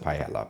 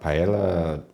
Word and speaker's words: paella: You pronounce it somewhat like a Y, depending on what country you're from and everything, at least here in Spain.